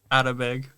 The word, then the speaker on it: Atabeg: So we're today Watermelon Podcast guests are Malika Burieva and Atabeg. Atabeg. Yeah. Okay. Yeah. Or as I like to be, Atabeg. Almost like English-ified version. Like an attaboy.